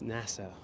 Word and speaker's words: Nassau: And yes, I pronounce Nassau differently. I know it's Nassau.